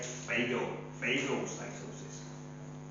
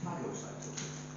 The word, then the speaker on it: phagocytosis: Now the Americans say phagocytosis. Over here we kind of say phagocytosis. It doesn't matter which way you pronounce it as long as you actually use this word because it's an important word.